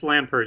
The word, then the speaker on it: Lampert: Is that the way they pronounce your name, Lampert, or is Yes, it that is silent correct. there? No, it's Father Lampert.